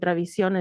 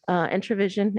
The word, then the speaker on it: Entravision: We definitely wanted to make sure that we got as much, and I forgot to mention Univision and Travision as well. Entravision is how it's pronounced, but yes.